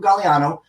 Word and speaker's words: Gagliano: asking what my actual name is it's gallano but you can find us on Sidekicks paranormal